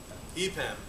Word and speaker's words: EPAM: And after that, two fine fellows from, do you pronounce it EPAM or EPAM? EPAM, okay, are going to be speaking about some